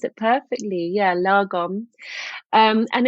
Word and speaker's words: lagom: bit what it is exactly I think you pronounce it perfectly yeah lagom um and it's a Swedish word and it